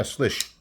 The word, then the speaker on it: Slysz: And I probably am, But anyway, yeah, he said, yeah, Slysz.